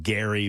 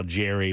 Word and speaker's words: Gerry: back of my mind, said that he pronounced his name Gary, but it became somehow Jerry, but it was gerrymandering.